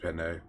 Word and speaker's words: Peen: By the way, I know it's pronounced Penne, but we decided Her a long name time is ago Peen.